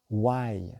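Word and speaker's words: wai: Why ?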